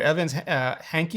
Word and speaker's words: Evans Hankey: If people aren't familiar, Evans Hankey, is that how you pronounce her name?